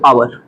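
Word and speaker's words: hour: एच क्या होगा silent इसका मतलब कि हम यहां पर जो प्रोनंसिएशन करेंगे कहां से करेंगे यहां से ये हो जाएगा एयर ठीक है अब यहां प क्या पढ़ेंगे इसको आवर आवर ठीक आवर मि घंटे य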